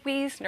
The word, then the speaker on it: Wiesner: really great to have you and it is Wiesner i think a lot of people probably have trouble pronouncing your name well it's if it's spelled